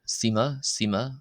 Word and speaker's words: ⲥⲓⲙⲁ: We then have the Coptic equivalent of the letter S, letter sema. This is like the S in the English word scent.